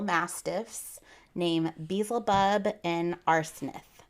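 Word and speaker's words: Arsinath: named Basel buub and arith I know I'm saying that last name wrong but I'm going to tell you he sounds like arsenic it's a r s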